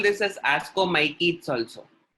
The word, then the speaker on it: ascomycetes: So you can call this as ascomycetes also. That CE is pronounced as KE.